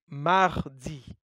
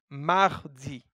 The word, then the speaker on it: Mardi: You say Mardi. So I repeat, Mardi. You can hear an R inside after the A.